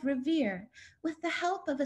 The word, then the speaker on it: Revere: In the locker room, Mari had overheard some girls pronouncing Revere as Revia in order to amuse one another.